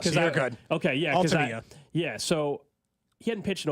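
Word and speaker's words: Altavilla: And I heard him pronounce his name yesterday in the clubhouse. So you're good. Okay, yeah. Altavia.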